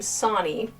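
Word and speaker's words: Sonne: And I know that he pronounces his name Sonnie which I'm not sure since it's so close to that uh Danish family line.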